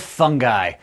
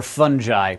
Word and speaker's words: fungi: the wonderful world of fungi or fungi both are acceptable pronunciations but I say fungi because it's fungus not fungus the fungus is also